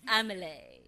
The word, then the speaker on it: Amelie: Oh, it's the French pronunciation. It's Amelie, is it?